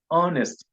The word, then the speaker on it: honest: air not here similarly honest is without the letter H in the spoken form it is pronounced as